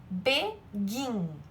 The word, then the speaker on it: begin: Então, por exemplo, aqui eu tenho begin. Primeira coisa, ó, qual que é mais forte, o B ou o gin? Begin. O gin é a sílaba tônica.